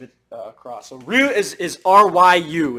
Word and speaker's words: Ryu: So Ryu is R-Y-U. It's not just R-U, even though it's pronounced Ryu, but you can hear it's like Ryu. So there is a Y there.